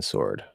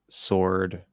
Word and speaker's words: sword: you saying you heard sword as swarm or you're wondering why we pronounce the W in swarm and not the W and sword um man no we don't pronounce the W in Sword uh now apparently on